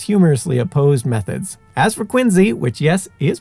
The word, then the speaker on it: Quincy: diametrically and sometimes humorously opposed methods as for quiny which yes is pronounced Quinn Z not Quinn C the city is home to the Adams National